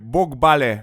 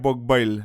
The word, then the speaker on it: Bogballe: You pronounce it Boh-bah-leh, not Bawg-bahl. Again, a Danish city.